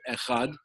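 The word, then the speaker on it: אחד: of the sages that you should lengthen the pronunciation of the word so you should say it echad don't slur the fes and pronounce the dalid but what is the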